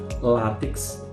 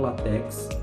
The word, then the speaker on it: látex: Látex, não latex.